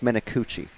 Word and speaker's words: Menacucci: And in the grand tradition of correcting driver names, it's Menacucci. Because it's one C.